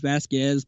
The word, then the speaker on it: Vasquez: Well, there's 2 ways. You said it different than I said it. The actual Vasquez. Hispanic way of saying it is Vasquez, but I'm used to Vasquez.